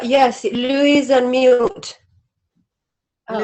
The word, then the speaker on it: Luis: how to pronounce your name how do i pronounce is it louie can people hear me you're right yes louise and milt oh it's mutant but it's louis